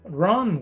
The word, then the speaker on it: wrong: What's wrong with? What's wrong with? Recordemos que la W antes de la R no se pronuncia. Entonces tú solamente vas a hacer que suene la R.